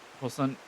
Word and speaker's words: puissant: soul of the most puissant? How do you pronounce that? Puissant. It's French.